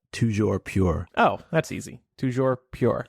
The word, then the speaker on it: toujours pur: What is the French pronunciation, Micah? We've been waiting. Oh, it's toujours pure.